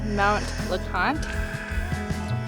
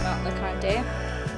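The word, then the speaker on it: Mount LeConte: 15 minutes away and I learned that it's pronounced Mount lant not mount lante we're almost at the top it's cold my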